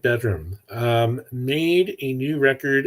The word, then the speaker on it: bdrmm: album called bedroom uh the band is spelled bdrmm did I get that right PD r m m yes take all the vowels out and add an extra M I don't know why